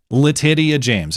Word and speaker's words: Letitia James: Well, first Comey, and then now, yes, it is New York Attorney General Letitia James. And yes, that is how you pronounce her name.